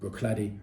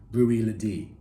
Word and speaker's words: Bruichladdich: i did taste recently brookhladdy the classic lady however i am being told i'm mispronouncing it and it should be rui lady if it is brewery